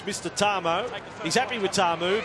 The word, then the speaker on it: Tamou: want you call for the confusion over the pronunciation he said now it's mr. Tom oh he's happy with our move but Tom o